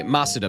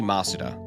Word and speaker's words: Masuda: Oh, you pronounce masa. Uh, sorry. Sorry. Masuda method. My bad. His name is Junichi Masuda.